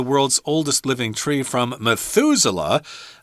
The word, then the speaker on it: Methuselah: name for a tree Methuselah it's kind of weird but that's how you say it Methuselah and that tree there